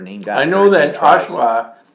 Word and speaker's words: Oshawa: I know that Oshawa, my aunt used to call it Oshava. Oshava? Oshava. Because the W in Holland is pronounced with a V. They say Oshava.